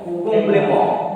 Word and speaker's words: complément: Complément. And already you know that when C is followed by O, R O Q, C will be pronounced K. So here complément.